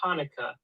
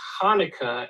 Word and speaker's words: Hanukkah: rugrats it's not pronounced hanukkah it's pronounced hanukkah and you have to spit when you say it yes it's hanukkah if